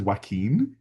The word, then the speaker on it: Joaquin: And then, as various people kind of pointed out throughout the various processes, like, his name is Joaquin, and so Like, Joaquin doesn't rhyme with Paquin, and it was like Paquin, like, yeah.